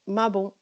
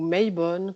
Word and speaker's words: Mabon: appeler l'équinoxe d'automne mais le plus connu et mabon ou my bones ça dépend comment on veut le prononcer je sais ça ne